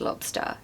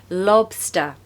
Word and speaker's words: lobster: my list pronunciation tip you want to stress the first part so lob LOB and then a schwa of course at the end so sta Lobster Lobster and also because